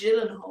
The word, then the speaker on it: Gyllenhaal: It's pronounced Gyllenhaal.